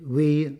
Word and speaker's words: We: It's called We Soundlab. The second word is pretty self-explanatory, and the first syllable is immediately clear when you know that the friendly owner, Mr. Tavisak, has the first name We.